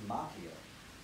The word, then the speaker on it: Macchio: Daniel-san, played by Ralph Macchio, which is actually the Italian way pronounced Macchio, but I believe he pronounces it Macchio in all respect to the decision.